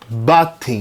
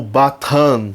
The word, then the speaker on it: Bathin: grande toureiro da goecha batem né batem batem ou batom né para alguns as pronúncias variam de acordo com o idioma de quem o invoca como sempre né o